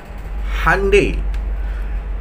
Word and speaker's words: Hyundai: otomotif dari mana Korea Hyundai ternyata dibacanya adalah Handai Handai byd tapi Handai